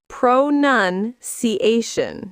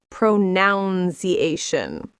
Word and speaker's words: pronunciation: It's pronunciation, not pronunciation.